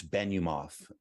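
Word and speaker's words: Benumof: i get your last name better so i pronounce it correctly yes it's ben you moth b as in boy e n is in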